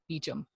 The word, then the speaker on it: Beauchamp: oh okay gotcha but it's like spelled like beauchamp but it's beachum so when you're reading the books it's like beauchamp but it is she